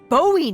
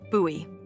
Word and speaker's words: Bowie: out this huge rusty Bowie knife. It's actually pronounced Bowie. What? No, it's like the last name, like David Bowie. Different last name. Bowie.